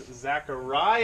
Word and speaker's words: Xaqaria: We got Jason over here, and he's Xaqaria. I learned how to pronounce it.